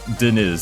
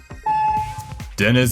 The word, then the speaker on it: Dennis: Apparently it's pronounced Dennis, not Deniz, so I apologize.